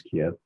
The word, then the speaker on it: Kyiv: then went back to Kyiv, which most people pronounce Kiev, and had some time.